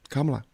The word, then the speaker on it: Kamala: It's Kamala, just like Pamela, but beginning with a K. Kamala.